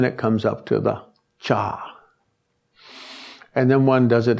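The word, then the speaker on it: kṣa: The Naropa system of 6 yogas, one puts the syllable cha, cha, K-S-H-A, but in Sanskrit they can put these sounds together quite easily. Like in English we put together K-N-I-F-E and it still comes out sounding okay. Cha, and in the navel the syllable ah.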